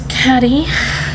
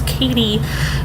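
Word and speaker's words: Caddie: know it next is caddy split CA ddie which can also mean I was Katie but I like the Caddy pronunciation then we have Carlin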